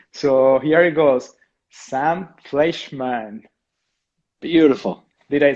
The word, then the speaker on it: Fleischmann: doing well i will try an attempt of pronouncing your last name so here it goes sam fleischmann beautiful did i say it right it was